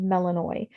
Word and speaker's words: Melinoe: is spelled differently but because it's greek and it's got the accent over it uh it makes that oy sound so it is pronounced melanoi and you can google